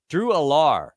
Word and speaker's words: Drew Allar: Drew Allar. Is that how it's pronounced, Bach? Yeah.